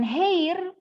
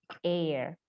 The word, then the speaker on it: heir: Sapa tuh the er ini bacanya bukan hair Astaga banyak orang bacanya head tapi dibacanya eyer huruf H di depannya silent artinya tidak diucapkan jadi erek2 ini hei